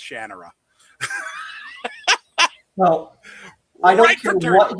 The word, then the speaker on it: Shannara: not how you pronounce it? Well, Shannara is how I pronounced it.